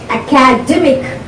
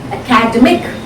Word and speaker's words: academic: when you pronounce the word academic the third syllable is prince is stressed academic academic academy academic so this is the difference in